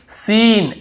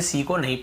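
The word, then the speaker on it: scene: भी S salient है और देखिए सीन एस ई एन इ सीन ऐसे पढ़ रहे यहां पर भी सी को नहीं पढ़ रहे स्कीन स्कीन नहीं पढ़ रहे सीन सीन यानी कोई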